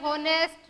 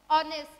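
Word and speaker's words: honest: हमारे यहाँ पर क्या है, H जो है वो साइलेंट है, H साइलेंट है, मतलब H से नेक्स्ट जो लेटर है हम उसके साउंड पढ़ेंगे। इसको हमने क्या पढ़ा, एयर पढ़ा, इसको ऑनेस्ट, ऑनर, आर।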